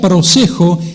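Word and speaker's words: προσέχω: La palabra guardaos en el griego se pronuncia prosejo, y ¿saben qué significa?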